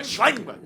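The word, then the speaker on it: Schellenberg: Schleinberg.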